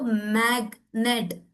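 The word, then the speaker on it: magnet: अगर आप बोलो मैग्नेट, टू सिलेबल वर्ड है, मैग एक अलग वर्ड बन जाता है, नेट एक अलग वर्ड बन जाता है। तो ये अलग अलग वर्ड हो जा रहा है, इसीलिए यहां पे जी का साउंड आना जरूरी है।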